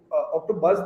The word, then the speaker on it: OktoBuzz: If you look at OktoBuzz, the name it rhymes very well with the word octopus.